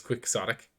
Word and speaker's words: quixotic: Your first pronunciation was correct, despite how Don Quixote is pronounced. Oh, okay. So it is quixotic.